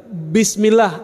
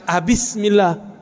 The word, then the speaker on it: bismillah: boleh didahului oleh ba tetap bacanya bis bismillah bukan abismillah terus apalagi Quran yang